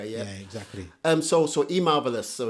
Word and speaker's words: Emarvellous: exactly um so so e marvelous so it's e e how you pronounce it how you spell it Vol one so so just e and the word marvelous together yeah yeah good good